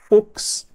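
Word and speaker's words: Fuchs: Brasil que tem o sobrenome Fox FX é assim que a gente pronuncia tudo bem temos exceções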